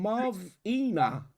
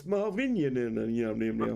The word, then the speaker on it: Marvinian: It's Marvinian. Yeah, Marvin with Ian on the end.